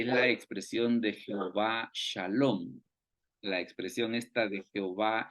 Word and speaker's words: Shalom: Y esa pronunciación de SH, estas dos letritas, vienen de este puntito que está aquí arriba, mire. Este puntito que está aquí arriba, donde estoy pasando el cursor, es el que le da la pronunciación esta de SH.